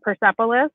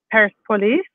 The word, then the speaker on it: Persepolis: favorite is probably americans i think pronounce it persepolis but it's paris police and it's um by